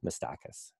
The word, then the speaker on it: Miistakis: There tends to be fairly universal agreement that the pronunciation is wrong, but there is no agreement on exactly what the right pronunciation is. So we say Miistakis.